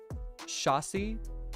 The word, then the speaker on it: chassis: you am I missing something Finley said it's pronounced shassy and yeah a racing seat belt helmet and